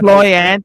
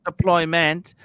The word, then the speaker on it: deployant: deployant, not deployment.